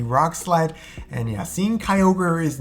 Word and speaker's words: Kyogre: Kyogre.